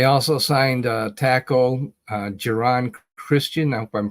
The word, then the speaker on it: Geron: signed a tackle uh giron Christian I hope I'm pronouncing his name right it's g r o n is his first name Geron Christian and wide receiver